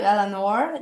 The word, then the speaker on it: Eleanor: It's so nice to meet you, Elanor.